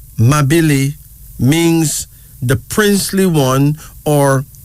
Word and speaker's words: Mabili: Our first male name is Mabili. Mabili. That's spelled M-A-B-I-L-I.